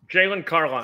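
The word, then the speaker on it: Jaylon Carlies: So let's talk about linebacker because, again, you pronounce his name? Carlisle? Jalen Carlisle? Yes. Jalen Carlisle.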